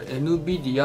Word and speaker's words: NVIDIA: ってですね、これ NVIDIA って読むんですよ。